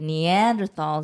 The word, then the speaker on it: Neanderthal: die phone x-ray so I thought like the Neanderthals and all those guys that was it not the beginning iPhone one I don't - mm-hmm and then now guess what we evolved from the Neanderthals you might have heard of human-like species called